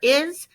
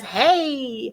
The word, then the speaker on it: hay: We're going to say there are, there is, there are. You've learned it as hey, except we don't pronounce it hey, we pronounce it I, correct?